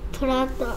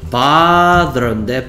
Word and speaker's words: brother: 이렇게 하면 발음이 bother인데 bother. 남자 형제가 bother인가요? bother? brother라며, brother. 이런 소리 난다며, brother. 그럼 도대체 이 리을이 어디 갔어? 지금은 bother, 지금 한별이가 쓰는 건 bother이잖아, bother.